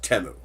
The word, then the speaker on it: Temu: I am pissed at Teemu temu it's actually pronounced temo I finally finished Farmland on temu yes they